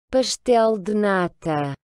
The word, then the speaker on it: pastel de nata: Et enfin, lorsque la lettre S est devant une consonne, ben, vous allez aussi prononcer le S comme un ch. Donc, c'est le cas, par exemple, dans le célèbre flan portugais. pastel de nata, Voilà, donc ça, c'est le premier son important.